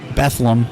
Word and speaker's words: Bethlehem: not familiar with and we're saying it Bethlem because that's how they say it here yes but if you